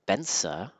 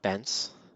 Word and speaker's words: Bence: Bensa, not Bence.